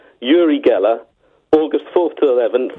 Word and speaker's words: Uri: I love Uri Geller, and it's pronounced Uri, and it makes me very uncomfortable saying Uri in the same way it makes me uncomfortable to say Moog and not Moog, but that's how they're pronounced.